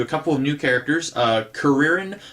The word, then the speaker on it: Kuririn: Kuririn, I believe, is how it's pronounced in this book. In the cartoon, his name was Krillin. That's probably what I will call him because that's what I know him as.